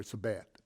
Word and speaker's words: Sebayt: wise in Medu Neter, "Sebayt," means wise teaching. It's from Saba. The Greek speaking people pronounced the b, fuh.